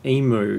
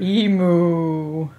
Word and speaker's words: emu: you can learn, America, that it's not pronounced emu. Emu.